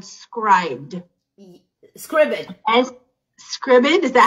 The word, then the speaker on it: Scribd: He taught me about an app called Scribd.